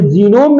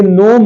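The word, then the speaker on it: gnome: गलत पढ़ जाते हैं ये जीनोम नहीं है ये नोम है जी साइलेंट है लिखा गया है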